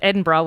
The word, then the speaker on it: Edinburgh: so the capital um capital city of Scotland Edinburgh MH um until I was probably close to